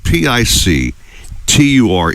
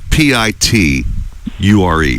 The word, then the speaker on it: picture: Picture is spelled Picture, okay? Not Piture. Picture, whatever you call it. It's a picture. Picture. Let's all repeat together. Picture.